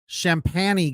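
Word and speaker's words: Champagnie: down shots that uh champany guy I think that's how you say it champ champagney champany it looks like champagne with an i at the end uh that guy was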